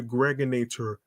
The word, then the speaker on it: Gregonator: This is your man and homie, aka the Gregonator. Rhymes with now or later.